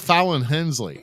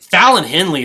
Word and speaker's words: Fallon Henley: names the wrestler Gloria no that's how you pronounce oh yeah Carmen yeah look Carmen Petrovic what about what about Fallon Hensley Fallon Henley is amazing or Henley yeah yeah um that